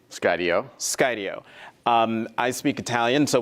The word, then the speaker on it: Skydio: SO HOW DO YOU PRONOUNCE THE COMPANY NAME? SKYDIO.